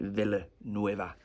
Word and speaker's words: Villanueva: actually it's the right way to say it, Villanueva.